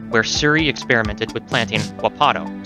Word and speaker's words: wapato: Surrey experimented with planting wapato, sometimes pronounced wapto.